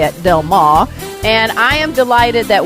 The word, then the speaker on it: Del Mar: That's how you say it, Del Mar.